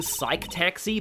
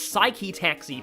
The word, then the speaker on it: Psyche-Taxi: Then I saw somebody who called the Danganronpa thing Psych-Taxi, but I'm like, no, it's Psyche-Taxi, because that, you know, 2 syllables in both words. Psyche-Taxi, it kind of rhymes.